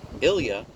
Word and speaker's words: Ilya: Ilya is a very common Russian name, pronounced very much like the French Il-I-A.